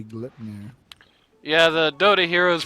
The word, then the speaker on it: Gleipnir: Gleipnir? Yes. That's how it's actually supposed to be pronounced. That's not true that when you buy it, they say Gleipnir.